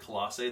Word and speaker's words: Colossae: letters let's talk about Colossae that's how you pronounce it Colossae this is why it's called Colossians because it's